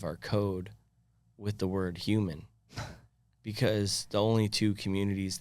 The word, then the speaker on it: HUMN: But it's spelled HUMN. Okay. Human. Human. And it's my abbreviated word for human.